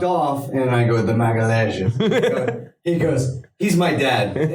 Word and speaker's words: Magalhães: So let's get the official pronunciation. Come on, Professor. Vinny. No. Vinicius Magalhães. God damn. Yeah. Oh, not an L N in it, H is Professor. yeah, like Yama. Magalhães.